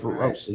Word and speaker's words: Roissy: I think it's spelled it Roissy. I think that's how they spelled it. But it's Roissy.